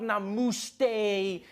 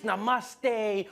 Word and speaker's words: namaste: People were coming on like, dude, it's not namaste, it's namaste.